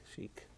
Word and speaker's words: Sheik: named after a Sheikh the Sheikh how we pronounce it chic um a midianite he